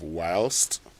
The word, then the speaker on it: whilst: But many of us have decided to go for the pronunciation of whilst and refused to pronounce the T.